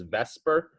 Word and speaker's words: VSEPR: the shape of molecules and this model is vesper v-s-e-p-r that's the way it's spelled and it stands for valence shell electron